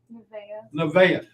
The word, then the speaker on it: Nevaeh: because i say it wrong what is it nevaeh i did say it right the last time